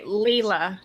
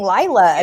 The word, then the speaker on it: Lila: whole thing on audio at one point leela too and she's like yeah that's how you pronounce it but then like they go right back to saying lila again because she doesn't want